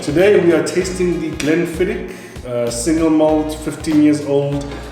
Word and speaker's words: Glenfiddich: No, it's a learning point for our listeners, our viewers. It's Glenfiddich. It's Glenfiddich. It's because Glenfiddich. you are Must pronounce it right.